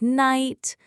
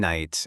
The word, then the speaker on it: night: Words like night, honest, right, thumb, subtle often confuse learners. I always pronounce the K in night and the B in subtle. Perfect!